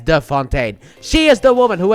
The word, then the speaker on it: de Fontaine: as Valentina Allegra De Fontaine, which is apparently very important that you pronounce her last name as the Fontaine.